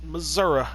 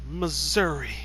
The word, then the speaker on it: Missouri: country parts of missouri not missouri missouri that's how the state's names pronounced missouri if you say missouri go back to school you losers you don't